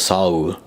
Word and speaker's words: Seoul: They spelled it like Seoul, but it's Seoul. Like, well, technically it's 2 syllables, Saur.